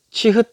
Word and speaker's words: 치읓: 그리고 요 치읓, 요게 이제 치읓이라고 하는데, 츳, 요게 뭐 이렇게 발음이 됩니다. 치읓, 치읓, 치읓 이렇게 되는데, 요거는 뭐냐면은 요것도 똑같이 하늘에 요 해에 요 씨앗이 요 아래로 내려짐을 뜻하지 않습니까?